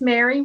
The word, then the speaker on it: Mary: I am here with Marie, and she's going to introduce herself. I hope I pronounced her name right. Yes. Yes. My name is Mary, and I live in Louisville, Kentucky.